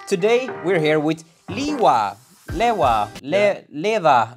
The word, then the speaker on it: LEWA: we're here with liwa Leva Leva it's basically a play on words because liver means live in Sweden so it's and it's a Swedish brand so yeah it's a kind of fun way of pronouncing the other yeah so this brand